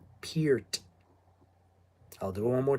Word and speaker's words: Peart: It's pronounced Peart, Peart. Peer is in peer, T, silent T, Peart.